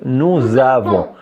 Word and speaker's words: nous avons: donne ça on écrit on écrit nous avons mais on la prononce nous avons et en la prononce cette S avec a ça devient za c'est pas ça c'est